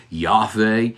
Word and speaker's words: Yahweh: it's referring to the one who is commonly pronounced Yahweh some people pronounce it Jehovah it is the